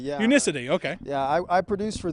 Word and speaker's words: Unicity: Unicity or how do you say it it's pronounced Unicity yeah Unicity okay yeah I produce for them and I